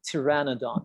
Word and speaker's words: pteranodon: dinosaur that they saw pteranodon yes pteranodon you don't say p sound in the beginning of it you see you start with the t tyrannadon not p but t pteranodon that's how you pronounce